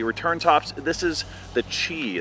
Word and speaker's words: Qi: Tops This is the chi it's pronounced Chi but it looks like Qi but that's how we're